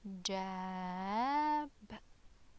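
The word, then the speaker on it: جاب: As you can see, there is fatha here above the Jeem. So how to pronounce it? Ja, and then Alif, jab, jab, jab.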